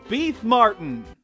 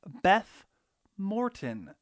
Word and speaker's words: Beth Morton: artist and fellow battle for bikini bottom enthusiast beef martin i'm being told it's actually pronounced beth morton but anyway she's got her own opinions so